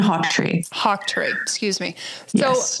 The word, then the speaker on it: Hawtree: So excuse me, how do you pronounce his name again? Who you worked with in Scotland? Hofford? Yeah, Martin Hawtree.